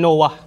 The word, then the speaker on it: Nuh: Alhamdulillah natapos natin at ngayon pag-uusapan natin ay si prophet Nuh alayhi salatu wasalam. O tinatawag sa mga naunang libro na si Noah pero ang correct pronunciation ng pangalan niya ay si Nuh.